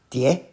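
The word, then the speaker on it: 蝶: They are pronounced die, second tone.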